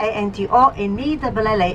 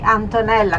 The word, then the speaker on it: Antonella: So good morning, my name is Antonella, A-N-T-O-N-E-L-L-A, Antonella. Can you repeat it? Antonella. Very easy to remember. Rhymes with the mozzarella.